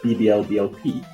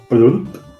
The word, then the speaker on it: Bubulup: I thought it was like BBLBLP, but then I got told that it's actually Bubulup.